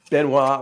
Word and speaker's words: Benoit: I'm not pronouncing the T in Benoit. It's exactly like chocolat, and like Chocolat. Benoit, Chocolat. you Yeah. know, all three have a T at the end, and none of the T's are said.